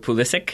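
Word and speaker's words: Pulisic: I have decided because I've really tried to go with pool issaq because I know that's how he pronounces it but it just seems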